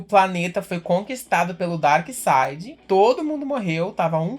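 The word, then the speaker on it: Darkseid: Dark Side Dark Sage por que que se escreve Dark Sage no Dark Side se fala Dark Side no Dark Sage como é que o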